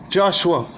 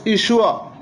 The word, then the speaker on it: Yeshua: They changed the I and they put the J and they pronounce it Joshua. His correct name was Yeshua.